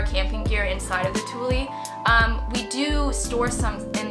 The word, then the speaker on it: Thule: You want to say fuel because it's T-H-U-L-E. But no, it's pronounced Thule.